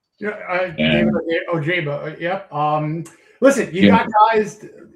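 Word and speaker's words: Ojabo: I like the reclamation projects that he brought over from the offseason, with Uche and was it Odajaba or whatever, how you say his name? Yeah, Ojaba.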